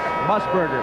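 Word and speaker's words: Musburger: How do you pronounce that again? That last name. I Musberger.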